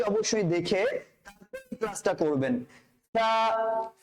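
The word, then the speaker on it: ثاء: সা সা, সাটা কিরকম হবে? পাতলা হবে।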